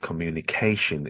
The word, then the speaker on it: communication: the word communication um the stress in this word communication is over the a syllable and vowel sound at the end communication make sure you get the word dress in that right position moving on to the